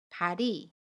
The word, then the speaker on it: 발이: 발의 받침 리을과 모음 이가 만납니다. 그러면 받침 리을이 이응 자리로 가서 발이 라고 발음해요. 연음입니다.